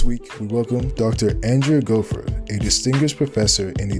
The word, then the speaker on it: Goforth: biology and this afternoon we have Dr Andrea gopher is that right yes I'm pronouncing it right now very good yeah she